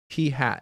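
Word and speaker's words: p̂: Again, this is pronounced P hat.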